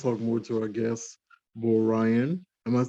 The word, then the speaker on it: B0RYAN: we're going to talk more to our guest boy ryan i might say i almost did i don't mess your name up i'm saying it right bro ryan yes sir that's right we don't talk more